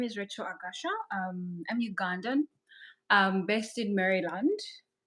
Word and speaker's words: Agasha: How do you pronounce it? It's Agasha.